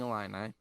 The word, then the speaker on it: Illini: the number five illinois fighting illini all right that's how you say it versus the michigan state